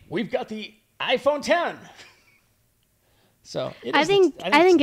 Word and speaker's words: iPhone X: read is it the iPhone 10 or is it the iPhone x10 it covered this on a previous show he said it's the iPhone X I said really but people say it's pronounced 10 I said I said